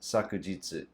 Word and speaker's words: 昨日: reason for that is it could also be pronounced sakujitsu sakuyitsu is more formal you might see it in newspapers or in formal announcements and stuff kino is just more common